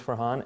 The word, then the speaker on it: Farhan: Farhan, his name is Farhan, F-A-R-H-A-N, and his last name spelled the same way mine is, Qureshi.